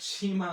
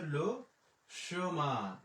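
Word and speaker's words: le chemin: না যে আমি ক্যাট সীমা আসছি, ঠিক আছে? এটা কিন্তু সীমা না, এটা হচ্ছে লো সোমা।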